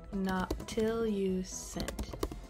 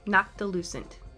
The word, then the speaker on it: noctilucent: Noctilucent? I have to look it up real quick, because I don't know how to say it. Noctilucent. It's what we call noctilucent clouds. Okay, noctilucent.